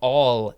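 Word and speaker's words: awl: Next we have all.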